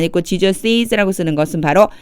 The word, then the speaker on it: Jesus': Jesus' mother, 제가 여기에 Jesus라고 안 읽고 Jesus'라고 쓰는 것은 바로 이 apostrophe 때문에요.